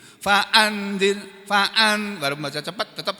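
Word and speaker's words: فأنذر: termasuk ikhfa ya kan jadi harus mendengung Faan harus ada harus ada dengungannya jangan faanir jangan begitu faanzir Faan walaupun baca cepat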